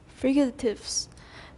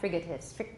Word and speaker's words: fricatives: Fricatives. The fricatives of English. Remember, we pronounced that with the aspirated K. Fricatives, not frigatives.